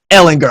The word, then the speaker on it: Ehlinger: Sam Hard G Ehlinger. I call him Hard G.